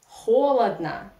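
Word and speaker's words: холодно: Russian language and or unstressed in a weak position without stress we pronounce like Ah that's why we write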